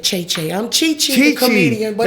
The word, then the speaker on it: Che Che: So So how you said you're supposed to pronounce be pronounced which way? Chi-chi.